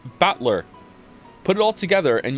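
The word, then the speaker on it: Battler: And it's pronounced batler.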